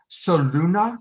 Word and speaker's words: Soluna: Shashi, and do you pronounce it Soluna? How do you pronounce it? That's it. Sol, Luna, Sun, Moon, Light, Dark.